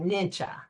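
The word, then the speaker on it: Nietzsche: by the philosopher Frederick nii some people pronounce it nincha he famously stated I'm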